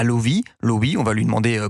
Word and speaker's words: Loewi: de vos nouvelles alors Lovi ou loui alors ça se prononce li vous vous aviez juste